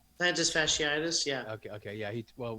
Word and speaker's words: plantar fasciitis: what do you say how do you say it plantus fasciitis right plantar fasciitis yeah okay okay yeah